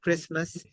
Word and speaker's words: Christmas: Do you say T? No, we don't say T, right? Christmas.